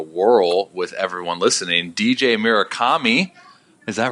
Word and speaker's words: Murakami: give it a whirl with everyone listening DJ Mira Comi is that right that was perfect oh dude